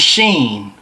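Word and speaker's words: Sean: Your real name is Sheen, not with a sh. I think Sheen. The H is silent. Yes, the H is most definitely silent. His name spells like S E A N. Sheen.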